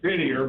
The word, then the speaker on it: Didier: o Clint Didier and his name is Didier but you know I guess they given it the French pronunciation and Didier is looking